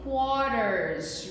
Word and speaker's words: quarter: So, a hora a gente vai poder dividir em quarters. Repeat. O que é quarters? Significa quarters. Quartos. Então. Escreve com A, mas pronuncia com O. Repeat it, teacher. Quarter. A quarter.